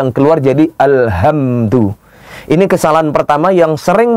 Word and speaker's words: Alhamdulillah: pun juga akan benar tidak sedikit pula kita jumpai ada orang yang membaca yang seharusnya hurufnya H namun yang keluar jadi hak Jadi bukan Alhamdulillah keluar jadi Alhamdulillah Ini kesalahan pertama yang